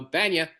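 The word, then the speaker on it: Bania: B A N I A. Yeah. And uh so sometimes Jason or uh Jerry would pronounce it BA like you did that once.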